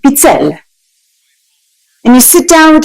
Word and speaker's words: pizzelle: It's spelled P-I-Z-Z, like pizza, but then E-L-L-E, pizzelle.